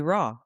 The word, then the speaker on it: RAA: and that's a space where you can be raw. Exactly. Exactly. You know, we spell it RAA, but it's pronounced raw Raw.